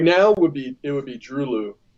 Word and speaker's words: Droeloe: right now it would be Drulu. It's spelled Droeloe. I think they're German, so it's pronounced Drulu.